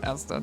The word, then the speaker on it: Asda: Okay, I'll pronounce it Asda then.